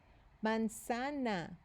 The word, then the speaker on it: manzana: Manzana. Manzana. What letter does manzana start with? Manzana. And notice this sounds more like an S, right? Instead of a Z.